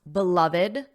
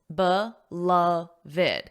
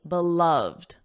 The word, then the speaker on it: beloved: Did you notice how I pronounced beloved, beloved? There are 3 syllables, beloved. This is important because generally when you have a voiced sound, the ED is pronounced as a soft D, and there's only 1 syllable at the end. So that means it would normally be beloved, beloved.